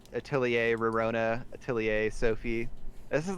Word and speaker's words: Atelier: I think it's Atelier. Oh, okay. So it's like a French ER.